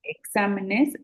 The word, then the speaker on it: exámenes: Ajá, es esdrújula porque exa está en la antepenúltima sílaba y todas las esdrújulas se acentúan. Ujú. Entonces, exámenes sí lleva acento, examen no lleva acento.